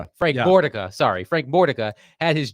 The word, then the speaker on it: Mordica: I hope I'm pronouncing this correctly. Frank Mikica had his jersey Frank Mortica. Frank Mordica, sorry.